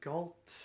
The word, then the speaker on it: Galt: The second big thing was the John Galt line. At least that's the way I pronounce it. I've heard some people say Galt.